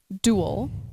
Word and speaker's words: Duael: heard that a lot it's duel as in dueling opponents as in dual partner because our game format